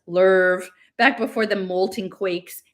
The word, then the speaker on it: love: You know, like they're sitting in this restaurant on Venus back when Venus was called the love planet with love, pronounced lerv, back before the molten quakes and the uprisings.